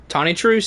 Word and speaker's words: Tonitrus: Tonit truce. That's how you say it. I'm going call it titrus.